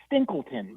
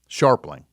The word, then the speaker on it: Scharpling: Tom Stinkleton. Do I have that right? No. Scharpling. Oh, yes. Okay. I mispronounced that.